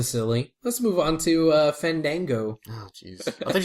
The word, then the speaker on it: Fandango: We won't discuss this angle until you pronounce his name right. Fandango.